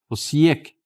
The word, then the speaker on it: Osijek: O máximo que eu consigo. Osijek. Alciak. Não fala o J.